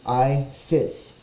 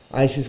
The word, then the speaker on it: Isis: name for this deity Isis is a Greek Corruption of the Egyptian name and its pronunciation is I sits and it's further corruption by English speakers the true Egyptian pronunciation